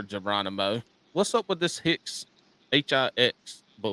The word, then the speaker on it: Hix: my name there Geronimo what's up with this Hicks h-i-x that's my last name